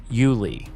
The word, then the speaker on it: Yulee: Say it the way locals say it. Yulee.